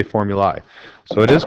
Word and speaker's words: formulae: We don't say formulas, we say formulae.